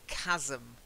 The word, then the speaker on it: chasm: it and then Madame has a hard see chasm wide gap between two